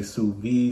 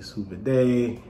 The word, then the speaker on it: sous vide: the sous vide uh hopefully i'm pronouncing that right some people say su v some people say souven day so i'll say suvi for now now i'll go back